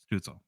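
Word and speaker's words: Stützle: the next 10 years are you a stutzel or stla like how do you say stel stutzel stutzel yeah and then Jake Sanderson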